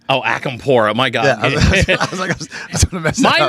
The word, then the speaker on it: Acampora: can't how do you say your name oh akampura my god my name gets brutalized in so